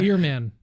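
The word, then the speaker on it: Earman: science John ehrmann yeah not not ER not Airmen but Airman right or ear man it's spelled ear man uh yeah no it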